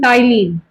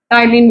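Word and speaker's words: ptyalin: Somewhere in several books you will also found this a बाय the name टाइलीन। यहां पे P silent होता है। टलीन भी बोलते होते हैं इसको।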